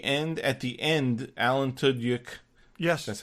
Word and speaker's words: Tudyk: At the end, Alan Tudyk, yes, that's how you pronounce his name, was saying, coming back, the highest rated new drama of the year.